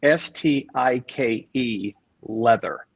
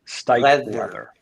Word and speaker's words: Stikelether: I believe it is Stike leather. Stike leather. Okay, Yes. leather. Okay, Yeah. Stikelether.